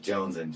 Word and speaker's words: Jonezen: But so it's spelled with the Zen, Z-E-N, pronounced like Jonezen, just like I need that shit.